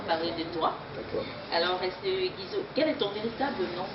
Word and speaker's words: Guizot: C'est Guizo et ça s'écrit G-U-I-Z-O-T. C'est pas comme les autres voyous, on écrit G-U-S-Y-S-O. Voilà. C'est Guizot. Alors, Guizot, es-tu marié?